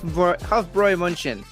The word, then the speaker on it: Hofbräu München: So basically uh it is pronounced hroy hroy crap hroy munchen hroy munchchin it's pronounced huffboy kuff huffroy munchin huffroy munchin and uh I believe the rest